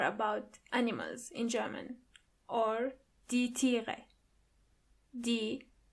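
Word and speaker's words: Tiere: animals in German or D. Do you see the E and A in the middle? When they come together after each other, they sound more like E, a longer E.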